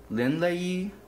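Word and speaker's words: lindleyi: So I pronounce this Linlei, and it grows 4 to 8 inches in height, or 4 to 8 inches long.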